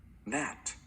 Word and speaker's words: gnat: the N is silent, and the letter G in front of the N is silent.